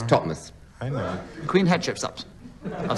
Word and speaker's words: Thothmes: Just like Thothmes, it's Totmes.